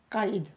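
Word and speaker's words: قايد: France Kaïd le Kaï mais quand on dit Kaid ça se comprend mais si on veut le prononcer avec la à la perfection il y a le K Kaid kaïde oui ça va alors dis-nous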